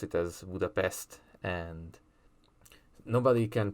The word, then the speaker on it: Budapest: a hungarian's bad side it's buddha pesht like sht not buddha pest like an insect one little side note